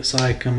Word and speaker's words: Siakam: Siakam, I think is how you say it. I think you're right. I can't pronounce it for sure, so I don't Pascal Siakam.